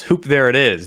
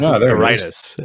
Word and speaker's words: Hoop There It Is: So today the winners are, I mispronounced before. It's Hoop There It Is, not Hoop Theritis, as I said.